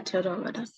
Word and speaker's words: Theravada: I'm going to pronounce it bad. Please correct me. But is it Theravada or Mahayana or Vajrayana? Yeah, Theravada.